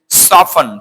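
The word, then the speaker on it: soften: তারপরে আমরা তো সচরাচর সফটেন বলে থাকি, সফটেন, নট সফটেন, এটা হচ্ছে সফন।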